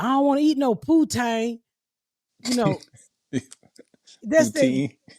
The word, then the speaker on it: poutine: I had pronounced and they were just laughing like, "How you pronounce it?" Poutine.